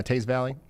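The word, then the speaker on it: Teays Valley: Game on in the, how do you say this? Is it Taze Valley? Yeah, Taze Valley.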